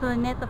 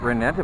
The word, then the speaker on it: Rizal: yeah right there uhhuh so how do you say the name ritell Park no it's Retta Park reetta Park yeah Rell Park the main